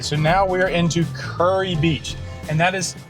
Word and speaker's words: Kure Beach: All right, so now we are into Kure Beach. And that is pronounced Kure Beach. Fastest way to to tell someone that you're not from here is to say Kure Beach or Kure Beach.